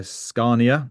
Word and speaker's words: Scania: And then I'm blessed also to be in Stockholm today at the Sustainable Transport Forum hosted by Scania. That's how you pronounce it.